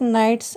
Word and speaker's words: knight: Students, if you see the spelling of knights and gnomes, in knight spelling K is silent and in gnome spelling G is silent.